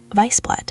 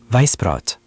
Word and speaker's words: Weißbrot: Weißbrot, सफेद bread. Weißbrot. SS का उच्चारण डबल S की ध्वनि जैसा होता है, है ना?